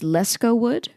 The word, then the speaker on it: Lescault-Wood: Apparently it's Lescault-Wood, but I've always said Lescault-Wood, or just called him LW or LW because efficiency.